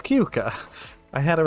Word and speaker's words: Keuka: It's Keuka.